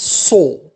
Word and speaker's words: saw: We have the verb to see in the past becomes saw. A pronounced O.